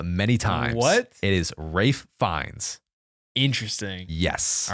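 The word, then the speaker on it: Ralph Fiennes: Rafe fines interesting yes all right I have up that name many times it is Rafe fines I know I don't know why you spell it like that that's literally Ralph I hate the English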